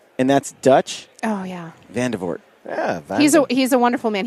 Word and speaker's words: Vandevoort: I married a Dutchman. It's Vandevoort. Vandevoort. Vandevoort? Vandevoort. Vandevoort. Yeah, no, the R is the faux pas.